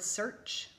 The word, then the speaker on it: search: Say the word search. Great. It has that ch sound at the end because of the ch.